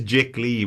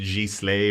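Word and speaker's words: giclée: okay so it is it is jic lee because we were like is it g slay or something but it's not it's yeah okay you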